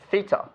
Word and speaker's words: theta: to draw that for me okay this is pronounced theta and it's a Greek letter you might have seen that before in some places right that's a yeah it's called theta and we use it specifically for unknown angles